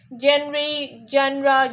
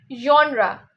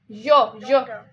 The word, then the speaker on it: genre: Even in literature, I have seen people say genre. They say kind of this, but it's genre. Genre. Why nahi? Like it's a j sound.